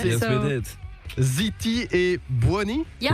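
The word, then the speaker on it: Zitti e buoni: Ziti et Buoni. Yeah. Ziti et Buoni. Perfect pronunciation.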